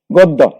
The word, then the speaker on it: গদ্য: আরেকটা নিয়ম রয়ে গেছে, সেটা হলো শব্দের শেষে জফলা থাকলে তার উচ্চারণ কিন্তু দিতে হয়। এইটার 4টি উদাহরণ, যেমন গদ্য, পদ্য। আমরা এখানে দেখি এই গদ্যের মধ্যে কিন্তু দোয়ার সাথে জফলা আছে, সুতরাং এটা কিন্তু দুইবার উচ্চারিত হবে।